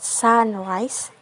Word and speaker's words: sunrise: first label like in the word Sunrise the stress is on the first cable Sun now if the if